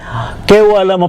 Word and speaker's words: Kevalam: Ise-search uli natin ang Baba K kewalam ang pronunciation pero ang kanyang ah spelling ay kevalam.